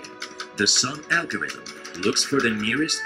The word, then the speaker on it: SONM: All right, so that was for the ICO, and it's actually pronounced SONM, as we just heard.